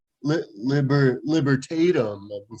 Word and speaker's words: libertatum: see so of course they're promoting their new liberatum liber libertatum i've been saying it wrong i should probably